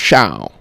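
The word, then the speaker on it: Chão: I feel like most people think it's Fogo de Chao, though. Yeah, I mean, I think that's the common, like, American Chao pronunciation. It's Chao.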